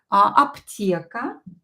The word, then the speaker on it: аптека: Аптека is P. P is in a weak position here because I'm not sure. Should I write it with аптека and I pronounce it as P? And I have just to memorize that аптека is with P.